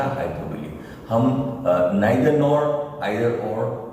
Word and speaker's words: hyperbole: उसका स्पेलिंग भी मैंने आपको बताया था, HYPERBOLE, और उसका प्रोनाउंसिएशन था हाइपरबोली।